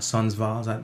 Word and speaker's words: Sundsvall: It's called Sundsvall. Am I pronouncing that right?